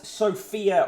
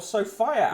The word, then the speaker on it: Sophia: Top, in the promotion box at the top, we've got fertility on ice as Sophia, or Sophia, as I discovered it's pronounced when she was featured on the radio the other day.